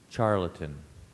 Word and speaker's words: charlatan: me alternate pronunciations H there's a non-standard pronunciation offered here which is charlatan can you give me